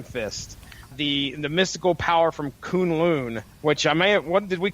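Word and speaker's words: K'un-Lun: I believe it's pronounced Kunlun. Kunlun.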